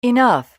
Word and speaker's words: enough: 이런 것들 GH로 끝나는 발음들에서 여러분들 F 사운드를 좀 만들어 주셔야 되는 것까지 같이 기억할 수 있었으면 좋겠어요.